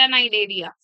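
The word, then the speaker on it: Cnidaria: नई एरिया नाइरिया था नाइजेरिया अभी रिपीट करेंगे सिलेंट्रेट नाइरिया सिलेंट्रेट नाइडेरिया चलो अब ये टीनोफोरा था यस मैम इसके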